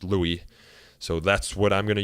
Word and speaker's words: Louis: common but Jeff assures me that it is pronounced Louis so that's what I'm gonna use here in